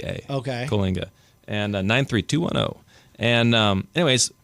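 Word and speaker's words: Coalinga: that c well yeah how you spell it and how you say it are two different things but um c o a l i n g a okay Kinga and 93210 and um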